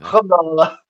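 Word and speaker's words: الحمد لله: Alhamdulillah. Yeah. Alhamdulillah.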